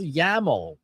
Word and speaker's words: YAML: If you're doing tabular data, uh format you're looking for is format called YAML, YL, rhymes with camel.